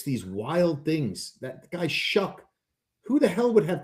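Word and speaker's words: Shough: This is a big uh this is I gotta tell you the Saints uh Tyler Shuck.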